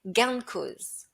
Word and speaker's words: gain de cause: Dans le langage courant, on va le prononcer gain de cause.